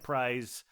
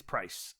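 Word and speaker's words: Prys: r y s and it looks to me like prize but it it's price people who go there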